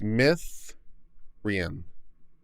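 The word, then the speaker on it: Myddrin: scottish or something and double d's is pronounced th so it's myth ren right did i get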